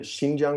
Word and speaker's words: Xinjiang: we're talking about I'm going to let you pronounce it yeah it's the shinjang region which is the far Northwestern most people